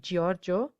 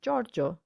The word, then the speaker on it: Giorgio: giusto but just similarly we don't say giovanni or giorgio but giovanni and giorgio now repeat the last